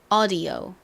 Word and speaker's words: audio: audio, audio 요렇게 되죠. 심지어 미국인들은 이 D 발음을요 디귿으로 하지 않고 약간 리을처럼 발음하기도 해요.